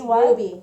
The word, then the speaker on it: RWBY: Do you guys watch the show RWBY? It's Ruby. It's Ruby.